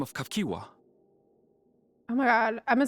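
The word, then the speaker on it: Cahciua: by the name of Kafkiwa. Oh my god, I'm saying that super wrong. Kafkiwa. Kafkiwa. Oh my god, there's no way I would have guessed that's how you say it.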